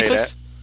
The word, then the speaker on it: Cephas: how to say Cephas. Yeah, is that how you say it? Yeah, Cephas.